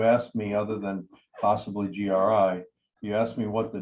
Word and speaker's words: GRI: you and just like just like the gri we don't pronounce it agree we don't we don't